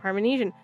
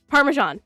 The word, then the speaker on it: Parmesan: Still pronounced Parmenesian like that. It's not Parmesanian.